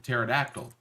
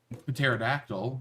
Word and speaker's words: pterodactyl: We don't do a word that starts with PT. You can't do that. You have to drop a P.